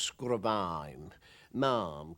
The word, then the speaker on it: Sgùrr a' Mhàim: an early start the first would be is pronounced scrubbing mom can mean anything like really a lump on